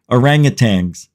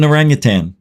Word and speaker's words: orangutan: call them and I still hear people saying it orangutang an orangutang an orangutang like Tang t n g there's no G it's an orangan I used to say